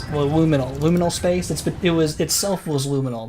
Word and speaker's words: liminal: Liminal, laminal. I'm saying it wrong and I'm making Ronald upset. Hominal. I'm looking it up. Liminal spaces? Backrooms. What's it called? Liminal. Liminal. Liminal, right?